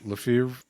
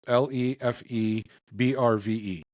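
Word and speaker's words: Lefebvre: And then also new this week, there's a French pipe maker, Pipes Lefevre is how you Google pronounces it, but it's Lefebrve. So however you'd like to pronounce that in French.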